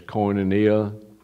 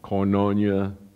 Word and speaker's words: koinonia: word sharing or fellowship is i've heard it's pronounced several different ways koinonia or coinnonya whichever you want to use but it's works